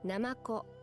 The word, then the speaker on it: ナマコ: Namako.